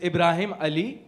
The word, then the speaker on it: Ibrahim Ali: Uh, make sure Ibraim. It is Ibrahim Ali.